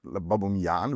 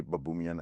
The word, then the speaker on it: Baboumian: it's babuman babuman but that would babuman which which sounds like some Roman kind of I don't know gladiator or ruler or whatever uh but yeah so so I say babumian and that's fine and and it's I'm